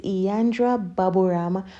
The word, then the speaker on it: Yandra Babam: because I know that the name is a little bit tricky to pronounce but it's yandra babam let us get right